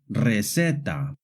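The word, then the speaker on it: receta: The letter C in Spanish can make a hard C sound like in the words casa coco but it can also make a soft C sound like in the words sinko resetta. This happens when the C is followed by an E or an I.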